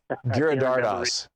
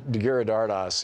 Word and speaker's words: Giridharadas: Giridharadas. Anand Giridharadas, his new book, Winners Take All, Elite Charades of the Elite Charade of Changing the World.